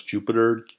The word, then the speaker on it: Jupyter: very powerful and for those that are listening it's spelled j u p y te r ok so that's Jupiter Ju py ter and it's with interactive computing